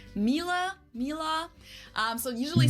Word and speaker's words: Miele: Listen, uh, I would pronounce it like as a Latvian, I would pronounce it Miele, Miele, because I would pronounce every, uh, letter.